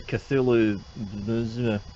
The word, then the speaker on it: Cthulhu: It's the Cthulhu.